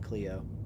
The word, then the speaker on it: Clio: I live in a town called Clio, and it's spelled like this, but everybody always calls it Cleo.